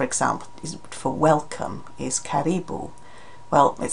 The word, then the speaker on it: karibu: So in Swahili it's karibu, the stress is on the second syllable there, whereas the animal is a caribou.